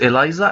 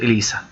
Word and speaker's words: ELISA: hyphae okay hyphy and not haifa so it's pronounced as hyphy and not haifa in biology it was eliza and not elisa okay i i don't know what is the